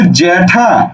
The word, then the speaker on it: জ্যাঠা: জ্যাঠা, জ্যা, জ্যা, আমরা জেঠা বলি না, জেঠা বলি না, বলি কি জ্যা ঠয়াকারে ঠা, জ্যাঠা। বুঝা গেল?